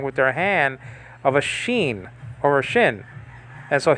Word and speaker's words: shin: like i've said before it's a sheen sometimes sometimes pronounced shin the name of this letter okay letter name or mr spock from star trek actually pronounce this letter shin and nachine you can pronounce it in both ways so it's not a